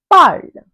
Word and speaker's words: parle: say in French, elle parle. Elle parle. Here again, we have added a E at the end of the stem, PARL, and we have got PARLE, which is again pronounced as parle.